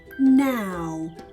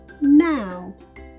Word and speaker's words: now: in the middle but listen to how they're pronounced now no in the first word we hear the sound ow now and in the second word we hear o no ow ow